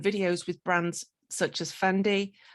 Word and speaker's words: Fendi: And his other works have included music videos and videos with brands such as Fendi, Fondi. It's a French brand, right? How do you say that? Fendi.